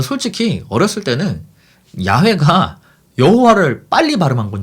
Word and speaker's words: 야훼: 넘는 그리스어 사본 들에서 여호와 라는 단어가 쓰인 적이 없습니다 그래서 저는 이 힙을 언어학자들이 줄기차게 더 올바른 발음이 라고 주장하는 야외 라는 표현을 쓰는 것입니다 저도 솔직히 이